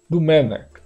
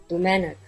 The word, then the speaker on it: Domènec: Lembrando que o que nós tínhamos pensado aqui é Domenech. Domenech. Vamos confirmar? Domenic. De novo.